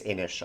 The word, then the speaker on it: Inis: My number 9 is Inish, I-N-I-S. I think it's Inish. I think that's the correct way to pronounce it.